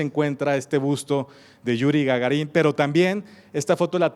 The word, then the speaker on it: Gagarín: Gargarín. Gagarín, de hecho es el nombre.